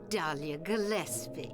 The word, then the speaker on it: Dahlia Gillespie: Yes, Dahlia Gillespie. Gillespie. That's how you pronounce that.